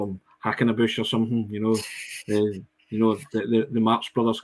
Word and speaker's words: Haksabanovic: We were practicing the pronunciation. There was a conversation had on WhatsApp this morning. Just to double check. Haksabanovic. That right, Sean? Too good at this, aye. Sead Haksabanovic.